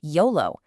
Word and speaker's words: YOLO: We just say it like a word, YOLO.